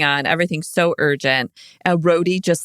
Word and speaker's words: Rhodey: And Rhodey just like moseys in. And he just seems so slow. Just Rosie, like, Rosie. what? Oh, wait, no. Yeah. Rhodey. Right.